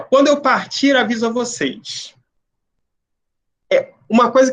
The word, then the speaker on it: partir: vocês, ó, quando eu partir, aviso a vocês. O partir, parece que eu estou falando partir, né? O R do final, ele praticamente não é ouvido, não é pronunciado, mas ele está ali, né?